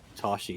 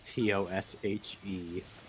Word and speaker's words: Tosche: one that spells it Tosche Station. It's Toshe. Oh, okay. Tosche actually.